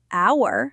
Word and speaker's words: hour: Because the H in honor and our is silent, the word starts with a vowel sound. Honor starts with an a sound. Hour starts with an sound. So it needs to be an honor and an hour.